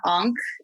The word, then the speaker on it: Ankh: I'll also sometimes use what's called onking, which is, are you familiar with onking? Now, how do you spell it? It's Ankh. It's like the Egyptian Ankh.